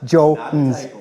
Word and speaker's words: Joens: Bailey Jones is spelled Joens. It is Jones.